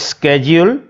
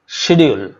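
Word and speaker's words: schedule: এখানে এই শব্দটার দুটো উচ্চারণ আছে, একটা হচ্ছে স্কেডিউল আর একটা হচ্ছে শিডিউল।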